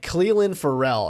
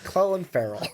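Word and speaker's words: Clelin Ferrell: different than that yeah they were saying like Cleveland Ferrell and I was like oh I think I've been saying that name wrong the whole time it's Chloe Farrell but anyways it just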